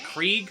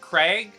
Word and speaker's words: Keurig: How do you pronounce it? Krieg? Craig? Kurug?